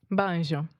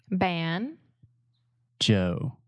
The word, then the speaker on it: banjo: this word in Portuguese Bonjour Bonjour right bones you in English we say ban ban say that with me ban Joe Joe banjo yeah and we really